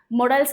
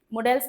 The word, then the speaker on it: modals: मॉडल्स क्या होते हैं? मॉडल्स, इसको मॉडल्स भी बोलते हैं, इसको मोडाल भी बोलते हैं, तीनों प्रोनाउंसिएशन सही है।